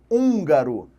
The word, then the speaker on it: húngaro: Para fazer com que esse U seja lido como se tivesse um tio. Tenta falar, ó, húngaro. Húngaro. Percebe que você não consegue manter o mesmo timbre? Então, aquele N vai transformar o U em uma vogal entendida diretamente como uma vogal necessariamente nasalizada.